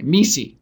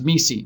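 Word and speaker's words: MECE: thorough they're very disciplined in the McKinsey way me see it's pronounced me see mutually excute exclusive collectively exhaustive it's a way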